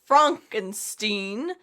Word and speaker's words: Frankenstein: Frankenstein's, it's pronounced Frankenstein, laboratory, where we'll learn the electrifying history of young Frankenstein.